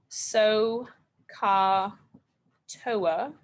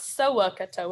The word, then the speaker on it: SOHCAHTOA: our instructions once more so ka toa again make sure you say it right don't add some syllables where there aren't any it's not soak a toe it's so katoa so katoa all right so um